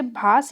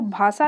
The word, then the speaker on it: भास: तो इसको भाषा नहीं पढ़ना है, वो गलत प्रोनाउंसिएशन है। जैसे योगा गलत प्रोनाउंसिएशन है, ऐसे ही भाषा अगर कह देंगे तो गलत प्रोनाउंसिएशन होगा आपका।